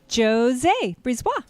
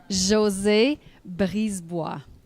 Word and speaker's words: Josie Brisebois: okay and let's have Jose a breeze Bach come up okay I'm gonna see my name the way it's supposed to really be pronounced you're ready Josie Barry's Bois I know it's difficult